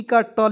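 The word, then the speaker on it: cut: उसी प्रकार दोस्तों यहाँ आप देखेंगे सी यू टी है ना जी, तो सी का क लिख दीजिएगा और टी का ट लिखते हैं। यू को इसमें साइलेंट कर दीजिएगा, इसका उच्चारण अ के रूप में कर लीजिए, कोई दिक्कत नहीं। तो यहाँ देखेंगे सी यू टी को क्या पढ़ते हैं दोस्तों, कट।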